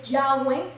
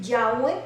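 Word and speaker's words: Yahweh: a nuestro dios jehová la pronunciación en realidad de su nombre jehová es llave verdad esta es la pronunciación más correcta al acuerdo que han llegado los estudiosos verdad que la pronunciación de jehová es yagüe verdad sabiendo que le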